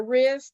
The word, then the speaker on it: wrist: lot of different ways so a silent w word means turning and twisting when you put a a w but it's silent voice so it's wrist grease and